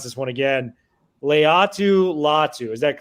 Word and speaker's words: Leatu Latu: And you got to correct me if I mispronounce this one again. Leatu Latu.